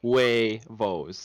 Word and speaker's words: huevos: because you say it huevos right huevos is the full spread out pronunciation but you say it in one consonant well and it's only two syllables it's not three i say that we